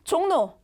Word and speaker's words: 종로: 종로를 읽으면 종로, 종로. 우린 종로라고 읽죠? 여기 지금 리을이 자 뭘로 바뀌었어요? 니은으로 바뀌었죠. 왜? 뭐 때문에? 앞에 이응으로 끝났으니까. 앞에 이응의 영향 때문에 리을이 니은으로 바뀐 겁니다.